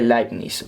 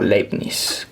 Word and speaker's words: Leibniz: por la forma de Leibniz o Leibniz, que se escribe así por si acaso el nombre. Leibniz o Leibniz, sí, hay dos formas para pronunciar, generalmente esas son las más utilizadas.